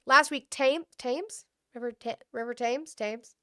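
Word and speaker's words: Thames: Uh a statement released by Tames Valley, it's Tames. Thank you. I knew I was saying it wrong.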